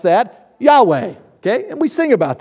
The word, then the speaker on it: Yahweh: Us Gentiles, Americans, okay, we have to put a couple of vowels in there so we can pronounce it.